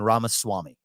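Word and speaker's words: Ramaswamy: you got that Y and then Ram Swami I've been practicing your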